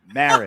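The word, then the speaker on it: Moehrig: Morig is pronounced Marriage.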